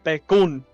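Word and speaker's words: Bekoon: His name is Ignil Bekun. Yes, and it's pronounced that way. It's spelled that way. There's two O's. It's Bekun instead of bacon.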